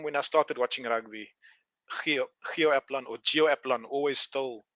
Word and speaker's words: Gio Aplon: How do you pronounce your name? But it's Gio Aplon.